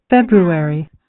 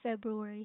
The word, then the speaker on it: February: So yeah this and also coming to the pronunciation it is February. February. February. You heard it right. February. February. February. So that's the correct pronunciation of the word.